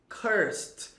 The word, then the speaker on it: cursed: Esse E não é pronunciado, não é cursed. Não é cursed. Você não pronuncia esse E, fica cursed, tá?